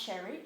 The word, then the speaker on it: Sherry: is sherry and it's spelt s-h-e-r-y so it's pronounced sherry like the drink my middle name is